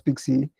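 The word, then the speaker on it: PKCE: authorization code with pxc pkc which you can pronounce pixie which is just for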